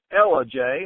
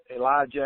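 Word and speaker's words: Ellijay: All right, that's Ella J. I know everybody will pronounce it Elijah or what it's Ella J, Georgia, in the North Georgia mountains.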